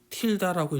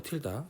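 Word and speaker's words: tilde: x에 우리가 이렇게 프라임 t 이렇게 되는데 이 물결을 우리가 이제 틸다라고 읽어요. 틸다. 제가 읽을 때 틸다라고 읽을게요.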